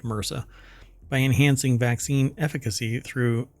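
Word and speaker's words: MRSA: progress in the fight against Mera uh MSA um but it's typically pronounced Mera by enhancing vaccine efficacy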